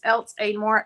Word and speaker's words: Elks Aidmore: Elks Aidmore, is that how you say it? Yes, ma'am. It's Elks Aidmore, ELKS, like an elk.